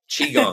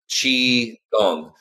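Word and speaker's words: qigong: like you know folks the hardest part about this practice is saying the name chiong because it's spelled Qi which you know is a translation from Chinese but it actually is spelled more like Chi chi gong you know interesting the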